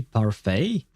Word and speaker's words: parfait: and Yidari is strawberry parfait. It feels weird to say Parfait. The word is French. It's pronounced parfait which means perfect by but yeah anyway